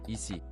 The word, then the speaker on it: ici: Easy. Ici. Easy. As in easy.